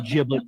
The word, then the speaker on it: giblet: But my mama makes really good giblet gravy or giblet. It's weird when I hear people say it with a hard G. It's giblet to the rest of us.